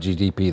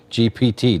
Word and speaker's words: GPT: Ask Google or your Chat GTP that question. GPT.